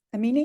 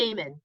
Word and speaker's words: Amen: Daniel, how do you say his Amini? Amen.